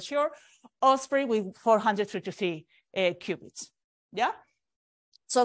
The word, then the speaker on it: Osprey: this year just last week the launched this or spray I had to to check how to pronounce that because I was not sure Osprey with 433 qubits yeah so some of the